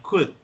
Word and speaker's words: could: could, así como suena, could, no se pronuncia la L.